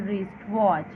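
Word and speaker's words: wristwatch: I have a very beautiful रिस्ट वॉच, अब यहाँ पे रिस्ट वॉच का डब्ल्यू साइलेंट है, तो इसकी हेल्प से हम ये वाला पोर्शन करेंगे।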